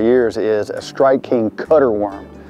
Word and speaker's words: Cut-R: last couple of years is a Strike King cutter worm. It's spelled C-U-T-R-worm, and it's a really versatile worm.